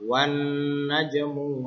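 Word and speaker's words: والنجم: Wan najmu wasyajaru yasjudan. Tulisannya itu wal najmu, tapi dibacanya wan najmu. Alif lamnya dihilangkan. Langsung masuk ke nun.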